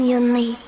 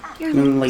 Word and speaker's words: Yunli: Literally, I wish I knew how to pronounce her name. I am Yunli. Yunli, okay. I am Yunli, swords.